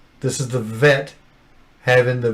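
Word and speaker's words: ב: with friction and so before it was plosive a ba and it's ba this is a this is a fricative letter and it's so you feel the vibration when you're speaking this letter out as a fricative letter that makes sense so say vet vet vet okay so uh there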